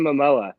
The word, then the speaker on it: Momoa: jason how do you say his last name mamoa jason momoa yeah jason momoa's older and better looking brother